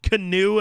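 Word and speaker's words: Keanu: When he said his name was pronounced Canoe, and then he was like, yeah, that's really stupid.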